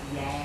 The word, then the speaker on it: Giang: Giang! Boat? [Granny is mistaking my name with other words with similar pronunciation] No! Giang!